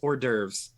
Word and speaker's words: hors d'oeuvres: hors d'oeuvres hors d'oeuvres oh my god it's hors d'oeuvres french look the french spelling of words can't have you ever read how or hors d'oeuvres is ridiculous h-o-r-s space d-apostrophe o-e-u-v-r-e-s good lord